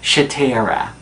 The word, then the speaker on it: Shatera: Miss Newbie's first name is pronounced Shatera.